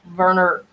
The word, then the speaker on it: Werner: But Werner, I want to say Werner because when you speak German, the W's are pronounced with a V.